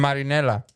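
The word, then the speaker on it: Marinela: Marinella.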